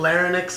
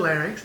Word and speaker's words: larynx: Seuss then there's certainly a lot of people pronounce them Lennox and fairness and I always make sure to correct them I pharynx and larynx but in normal people's vocabulary that just means